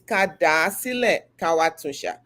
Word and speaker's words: Kádàásílẹ̀ káwá: It's "Kádàásílẹ̀ káwá Okay.